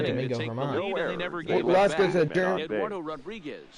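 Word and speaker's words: Germán: Also used to say Domingo Herman. Lost goes to Eduardo Rodriguez Why can't I earns pronounce win his number name 7 on the German? season. No, it's not German.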